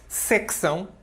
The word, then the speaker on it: secção: bandeira Portuguesa de Portugal em português de Portugal nós colocamos um cê antes deste e se conhecer para pronunciamos secção a participar de sessão não é São é uma sessão período secção é um corte seccionar a seccionar a